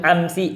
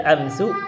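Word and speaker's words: أمسِ: Akhirnya itu tetap bacanya gitu, amsi, bacanya amsi, tidak dibaca amsu, amsa.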